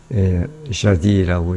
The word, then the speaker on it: jadis: 원래 이 jardin은 그냥 jadis, 옛날 그런 뜻인데, 옛날에 그런 뜻인데, 거의 S가 거의 발음이 안 나요. 그래서 그냥 jadis라고 이렇게 하는데, 뭐 S를 발음해도 상관이 없을 것 같아요.